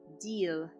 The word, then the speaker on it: değil: At the end, we have one exception, which is istisna, exception, the word değil. Değil, we're supposed to pronounce it as Y, but we don't. Deal.